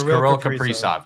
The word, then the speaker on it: Kirill Kaprizov: Yes, Kirill Kaprizov.